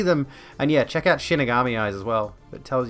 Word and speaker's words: shinigami: working their way up shinigami eyes not shin megami eyes that's how it's spelled um wait cinebrook hello